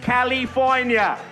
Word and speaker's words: California: Apparently we have all been wrong. It is pronounced California.